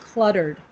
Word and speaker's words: cluttered: Cluttered. Clutter. Yeah. So this is a word that you might. It's easy to say different than it sounds, but in English we say the L sound, cluttered, cluh.